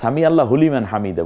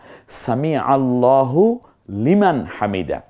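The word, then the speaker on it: سمع الله لمن حمده: বলবো না সামি আল্লাহ কারণ আল্লাহ শব্দের পূর্বের অক্ষরটা জবর যুক্ত হয়েছে এইজন্য আবার আমরা সামি আল্লাহ হুলিমান হামিদা বলি না সামি আল্লাহু লিমান হামিদা খুব চমৎকার উচ্চারণ করতে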